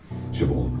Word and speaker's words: Siobhan: Siobhan, I always call it Siobhan because that's the Scottish way of pronouncing it, Siobhan.